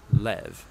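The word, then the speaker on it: לב: word in this prayer heart which in Hebrew is sometimes pronounced Lev or more often in a shorter form Lev now oh I thought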